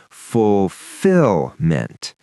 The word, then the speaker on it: fulfillment: So the stress falls on the second syllable, fulfillment. And that T at the end is soft, but it's there.